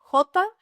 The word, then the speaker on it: jota: Jota has a strong breath sound, similar to the h in English.